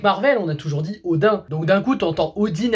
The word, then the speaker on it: Odin: Pourquoi ils disent Odin? Parce qu'à la base, on dit Odin. Moi, on m'a toujours habitué à dire Odin, que ça soit à l'école ou même dans certains jeux.